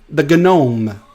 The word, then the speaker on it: Gnome: I still use the Gnome because I'm French Canadian. I pronounce the G. The Gnome. All right, I see some messages.